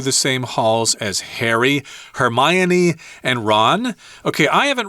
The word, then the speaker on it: Hermione: name of that girl I kept saying uh Hermione but that's incorrect you're supposed to say Hermione yeah Hermione yeah is